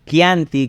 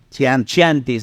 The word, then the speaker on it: Chianti: de lo que es el Chianti, que mucha gente también pronuncia Chiantis, ¿no?